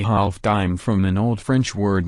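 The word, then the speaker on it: disme: seven decades the silver a half decem pronounced a half dime from an old french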